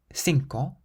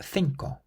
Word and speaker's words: cinco: This next word can be pronounced either cinco, cinco, or cinco, cinco.